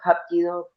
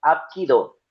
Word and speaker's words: Hapkido: Y pues con seriente hakido, nosotros aquí en Latinoamérica decimos happquido porque resulta que el coreano está traducido es al inglés. Nosotros hacemos una romanización del inglés al español. ¿Por qué? Porque para los estadounidenses la H se pronuncia como una J. Ellos, el el japquido generalmente es apquido, pero nosotros decimos hakido por la romanización que hacemos.